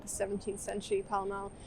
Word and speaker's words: Pall Mall: And it's named after the sport that they played in like the 17th century, Pall Mall, which I think might have been like pronounced Pele Mele at some point.